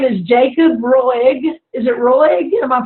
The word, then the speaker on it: Roig: Is it Roig? Am I pronouncing that right?